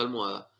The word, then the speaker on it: almohada: atrás para adelante y tenemos el ejemplo de almohada almohada se carga caen a sí que es mi penúltima sílaba contando siempre desde la derecha última penúltima fila y